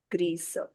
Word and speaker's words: grise: For gray color, we have gris and its feminine form become grise because of the e, the s take its sound. grise Then you have blanc.